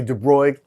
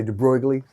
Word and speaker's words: de Broglie: Now I'm mispronouncing that because I'm not a native speaker of that language there. So some people say de Broglie, some people say de Broglie. You know, I call it de Broglie, but it's the wavelength.